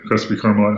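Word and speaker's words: Crespi Carmelite: you led your now if I get the pronunciation wrong please correct me cresy carite Celtics yep crisby carite High School okay there you go you led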